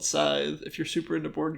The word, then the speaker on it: Scythe: you're not i would not how do you spell it i feel like it might be hard to understand the word you're saying scythe so it's the objects of a scythe is